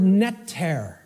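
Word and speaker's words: Netjer: Das Wort Netter in Ägyptischen, which would have been spelled without vowels, if we transliterated it, it would be NTR in English.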